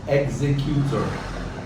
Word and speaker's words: executor: administrator is the executor it's called executor i pronounce it properly executor okay the executor is